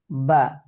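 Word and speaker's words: باء: তারপরে দেখো, বা, বা দুই ঠোঁটের ভিজে জায়গা হইতে উচ্চারিত হয়।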